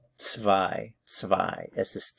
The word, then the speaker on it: zwei: Zwei. The Z here is like a TS in English. The W is like a V. Zwei.